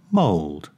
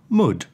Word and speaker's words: mould: would should and could but it's pronounced mold not mud the American mold is